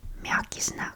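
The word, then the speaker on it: мягкий знак: this letter doesn't have its own sound when pronounced by itself. This one is Mjaki-Znak.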